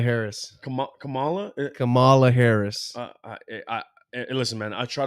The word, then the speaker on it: Kamala: Kamala Harris. Kamala. Kamala Harris. Listen, man. I try to pronounce it. Everybody they keep saying this wrong. It's Kamala. Oh no, it's Kamala.